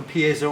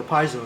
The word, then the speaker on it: piezo: Notice that there's one for piezo or piezo if you prefer to pronounce it that way.